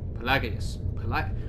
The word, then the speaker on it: Pelagius: The G is absolutely silent, and I don't care who you are. You can argue till you're blue in the face. I do believe that that G is silent. There is a silent G right there.